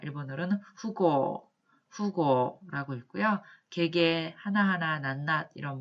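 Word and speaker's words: 富豪: 그 다음에 사적인 관계, 사사로운 일 할 때 이렇게 표현을 할 때 일본어로는 와타쿠시고도라고 읽습니다. 그 다음에 부호, 큰 부자죠. 부호나 부저를 부호나 부자 일컫는 말 일본어로는 후고라고 읽고요.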